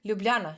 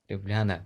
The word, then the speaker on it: Ljubljana: wanted to ask about the right pronunciation of it uh lubliana right yeah great Ljubljana yes Ljubljana yeah because when you